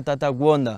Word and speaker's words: Gonda: Lo primero es que puedo confirmar que siguen al gurú, al profeta Tata Wanda. Tata Wanda realmente se escribe con G, Gonda, solo que esa G aquí se pronuncia como una W y de ahí viene